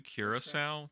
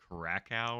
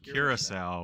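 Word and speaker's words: Curaçao: for the long time I said Krakow or something something like that yeah you know phonetically yeah you sound it out right but it's it's the the island of Curacao which is in the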